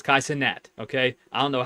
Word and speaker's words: Kai Cenat: But but that I listened to that song again uh Friday and now I know it's not it's Kai Senat is not his name. It's Kaiat.